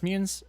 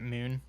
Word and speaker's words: Mune: Did I pronounce Munes? It's Mune, right? Not Moon. Mune.